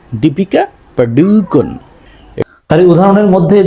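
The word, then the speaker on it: Deepika Padukone: আরেকটা আছে দীপিকা পারুক আমরা বলে ফেলাই সহজে দীপিকা পারুকন কোন টান টুন নাই কোন ইয়ে নাই আবার সঠিক উচ্চারণটা নাই এটা মূলত উচ্চারণ হবে দীপিকা পাডুকন দীপিকা পাডুকন তাহলে উদাহরণের মধ্যে যে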